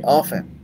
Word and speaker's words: often: sa salitang of tna often sabi ng teacher ko sa English lahat ng teacher ko sa English sabi nila It's a silent f Uh silent t off yung mga British often